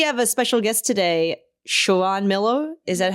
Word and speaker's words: Shiran: So, we have a special guest today, Shaon Miller. Is that how you pronounce? Yep. Shiron Miller.